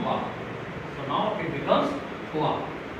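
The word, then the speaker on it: trois: This 3 is called thwa. And how come? Not twice, because for English I would be pronouncing it twice, but here it is thwa. Why? Because in French T and R, these two letters, they are together, they are bound to produce a sound ha.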